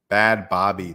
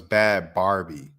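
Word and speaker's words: Bhad Bhabie: old the Alabama Barker bad Bobby thing first of all I thought the girl's name was bad Barbie like bad Bobby like but but like you pronounce it Bobby but like she had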